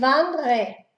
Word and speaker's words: wandre: Wandern, ich wandre, wandre. Uno la D y la R, wandre.